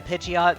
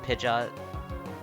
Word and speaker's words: Pidgeot: Or Pidgeot. Pidgeot, not Pidgeot. Pidgeot. Pidgeot. Cuz it's like pigeon.